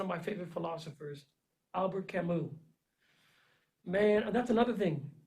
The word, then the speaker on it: Camus: my favorite philosophers albert camus man that's another thing camus his name is spelled c-a-m-u-s and academics will no they'll clown you if you say canvas it's camu all right sorry i'm about